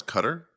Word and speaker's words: Qatar: just qarqar is like I think it's pronounce cutter and I can never wrap my head around it when someone pronounces it correctly cuz it's like that cuz it it's hard to look at that word and hear that cuz cutter sounds generic where qar does sound like exotic the way that you